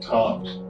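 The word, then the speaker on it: Tzomes: He spells his name Tzones, but he pronounces it Toms.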